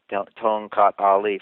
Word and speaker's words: Tongkat Ali: to men or women with low libido, is tonkat ali. Tongkat Ali from Indonesia. Can you John, do you care to spell that maybe for the listeners?